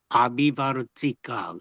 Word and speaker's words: 아비바르티카: 아비바르티카 AVI V T 아비바르티카 이렇게 발음합니다.